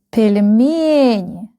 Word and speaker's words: Пельмени: The last syllable is stressed. ВИНОГРАД. ВИНОГРАД. ВИНОГРАД. Please repeat after me. ВИНОГРАД. ВИНОГРАД. ВИНОГРАд. Okay. Dumplings. Пельмени.